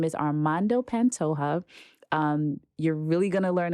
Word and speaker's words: Armando Pantoja: I am here with Armando Pantoja. Did I say that right? Yeah, you said it right.